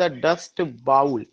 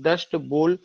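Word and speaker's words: Dust Bowl: are trapped in द डस्ट बाउल, और साथ ही साथ वे डस्ट बाउल में, ये जो हम लोग जो सॉरी डस्ट बोल, इसका करेक्ट प्रोनाउंसिएशन डस्ट बोल होगा, और वो पूरा का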